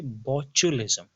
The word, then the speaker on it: botulism: और इस डिजीज का नाम है, आप अपनी स्क्रीन पे देख सकते हैं, इसको पढ़ते हैं, इसकी प्रोनाउंसिएशन है बोचुलिज्म। इट्स BOTULISM, लेकिन इसको पढ़ा जाता है बोचुलिज्म।